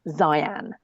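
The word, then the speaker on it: Xian: the name, and then I typed X-I-A-N into my phone, and it came up with something that sounded like Zian, or nothing at all like the pronunciation I'd been given.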